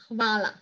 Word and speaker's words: hvala: But in Slovenian, you pronounce very well. The basic thank you is hvala.